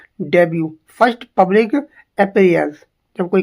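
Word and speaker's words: debut: डेब्यू डेब्यू इसे डिबेट नहीं बोलेंगे क्या बोलेंगे इसे डेब्यू फर्स्ट पब्लिक अपीयर्स जब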